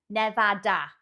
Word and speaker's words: Nevada: It is, I know it is Nevada. But for some bizarre reason, and I couldn't tell you for why, I don't know, but we would pronounce it, we'd add an R in there, so we'd say Nevada.